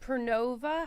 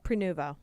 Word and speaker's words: Prenuvo: So, Kottie did Pernova. How do you say it? Prenuvo.